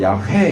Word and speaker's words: 야훼: 무슨 말인지 이해가 되시는지 모르겠는데, 이것이 요즘에 야훼, 순복음 쪽에서는 야훼 이렇게 하고, 야훼 이렇게 하고, 야훼가 정확한 발음이에요. 회는 아니에요. 그러면 회 이렇게. 네, 그거는 잘못 읽는 거예요. 히브리어를 제대로 몰라서.